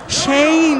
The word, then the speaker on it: Shayne: Shayne Hawke, you gotta pronounce that Y in there.